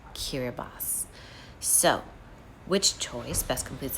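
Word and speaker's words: Kiribati: In the Gilbert language spoken by residents of the island nation, the letter combination ti makes the s sound. As a result, the country's name blank blank blank pronounced kiraibas.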